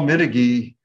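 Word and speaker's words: Mitiguy: Mitiggy is spelled M-I-T-I-G-U-Y, and the company is Motion Genesis.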